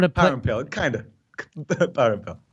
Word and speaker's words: Parampil: Parampil. Okay, I got it. So I'm going to play. Parampil, kind of. Parampil.